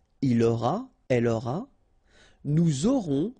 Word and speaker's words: aurons: J'aurai, tu auras, final S not pronounced, il aura, elle aura, nous aurons, final S not pronounced, and then you make the liaison, vous aurez, a Z at the end here, et, aurez, liaison